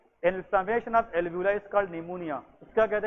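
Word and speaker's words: pneumonia: निमोनिया में P क्या है? साइलेंट है।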